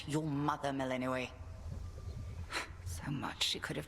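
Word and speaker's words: Melinoë: Meleninoi. So much she could have taught you. How do you pronounce her name? Melano. Compare us. Meleninoi.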